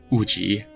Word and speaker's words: Wùjí: The Mòjí, often pronounced Uji, people, were active during